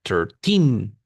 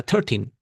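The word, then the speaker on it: thirteen: Thir con el acento al final. 13 nunca 13 say 13 and we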